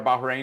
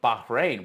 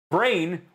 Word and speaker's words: Bahrain: arguing with Jared, going, Bahrain, why are we, and he's not pronouncing it properly. Bahrain, brain, why are you bringing me brain?